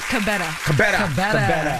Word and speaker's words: Kebede: Kebede. Did I say it right? Pretty close. What is it? Kebede.